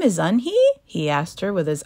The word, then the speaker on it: Unhei: turned to Joey she nodded slowly yes it's pronounced yunhai and it means Grace Mr Kim added yunhi Joey said slowly and this time perfectly it